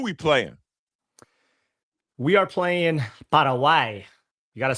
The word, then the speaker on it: Paraguay: We are playing Paraguay. You got to say it What like is that. If that? you're Paraguay is how Okay.